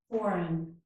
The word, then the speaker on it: foreign: This is design and foreign. In each of these words, the letter G is silent.